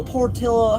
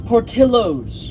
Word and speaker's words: Portillo's: by this $13 from Portillo, how do you say it? I looked it up, it's Portillo's.